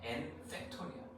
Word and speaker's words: 팩토리얼: n팩토리얼. F 발음이야. P 발음 아니고 n팩토리.